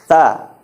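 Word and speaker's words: ث: Jadi, cara bacanya itu adalah huruf tha. Ujung lidahnya dikeluarkan sedikit.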